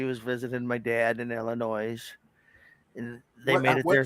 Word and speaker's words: Illinois: visiting my dad in Illinois and they made it there safe what's that word again Illinois Illinois the S is silent I'm from Michigan it's